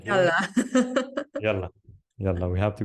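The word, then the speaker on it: يلا: But in spoken Arabic, we just combine it, and it's pronounced Yalla as you pronounce it.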